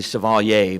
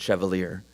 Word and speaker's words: Chevalier: It's actually Chevalier, but I understand Floridians pronounced it Chevalier.